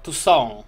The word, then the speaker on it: Toussaint: Okej, czyli wymawia się to Toussaint.